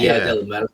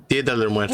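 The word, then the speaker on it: Día de los Muertos: Dia del Muertos, is that how you pronounce it? Dia de los Muertos. Yeah, De los Muertos. Dia de los It's kind of Dia del plural. Muerto. Okay. Yeah. It's more than one dead guy.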